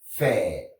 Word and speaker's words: fare: Donc, ce mot se prononce faire.